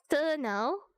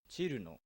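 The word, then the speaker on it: Cirno: Cerno, bro. Chiruno. This is how it's supposed to be pronounced.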